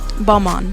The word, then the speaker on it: Balmain: Balmain. Balmain.